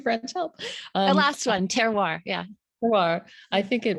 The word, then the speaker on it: terroir: I think that fits right into that, correct me, terroir. I can't speak French, help. The last one, terroir.